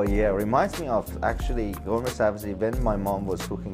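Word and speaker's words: ghormeh sabzi: Well, in Iranian call it gourmet sabzi, which is the right pronounce, and khoresh qeyme.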